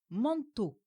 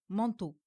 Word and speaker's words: manteau: Par exemple, dans le mot manteau, on met l'accent sur la syllabe to. Nous disons manteau et non manteau.